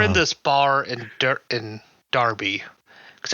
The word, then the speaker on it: Derby: We were in this bar in in Derby cuz I got to pronounce it with an A even though it's spelled with an E because English.